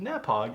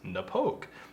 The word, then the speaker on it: Knappogue: kiss I realized that it wasn't nap hog it was Napo so anyway don't look